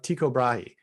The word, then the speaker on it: Tycho Brahe: and that's kind of it's always useful to find it, because like Tycho Brahe. All right, I pronounce it as Tycho Brahe.